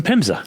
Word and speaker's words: PHMSA: fima yep that's a that's great question it's pronounced fimsa which but but we often get confused with